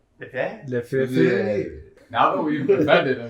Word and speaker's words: Lefebvre: It's pronounced Lefebvre. Lefebvre.